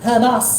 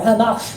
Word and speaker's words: Hamas: No doubt, Hezbollah, like the Houthis, like Hamas, or Hamash perhaps pronounced in a better manner, like the IC, the